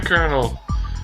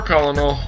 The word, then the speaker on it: colonel: to fight to get the colonel or colonal whatever I want to call him that at the moment we call him colonal just because in no way does that phonetically make a r sound open the present and